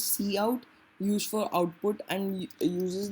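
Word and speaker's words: cout: so the value you entered was Vector all right okay so good to know see see how it is pronounced as C out use for output and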